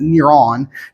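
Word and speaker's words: Νέρων: that neuron I mean in Greek they pronounce it niron neuron khazar k a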